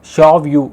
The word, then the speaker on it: Xiaoyu: இப்போ இந்த பொண்ணோட பெயர் பார்த்தீங்கன்னா மக்களே, ஃபஸ்ட் நான் அதை ப்ரொனவுன்ஸ் பண்ணல, ஃபஸ்ட் நான் வந்து ஸ்பெல் பண்ணுறேன். XIAOYU. இது எப்படி சைனீஸ் லாங்குவேஜை ப்ரொனவுன்ஸ் பண்ணுவாங்க அப்படின்னு பார்த்தீங்கன்னா ஷாவ்யூ அப்படிங்கிறாங்க. அப்போது இந்த பொண்ணோட பேர் ஷாவ்யூ அப்படிங்கிறது செம கிரேசியாக இருக்கும் மக்களே.